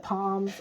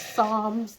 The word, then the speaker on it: Psalms: Now, Psalm is, I said Palms, I think at first, and that is not how you say that. It is Psalms. The P is silent.